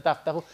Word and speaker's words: Toughbook: Tough quiere decir duro, se pronuncia Toughbook, computadoras duras, portables, y